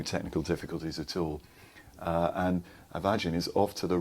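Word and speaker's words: A' Mhaighdean: Avagin is the Gaelic pronunciation, and in fact it means the Virgin.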